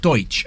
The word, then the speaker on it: Deutch: Deutch.